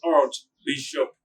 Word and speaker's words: archbishop: Number two, archbishop, or the Americans will say archbishop. Archbishop. The Archbishop of Muyale will preside over the Christmas Mass. So note, we say archbishop.